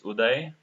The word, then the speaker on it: Udai: so yeah you know my my name generally they pronounce it in a wrong way it's udai okay I work in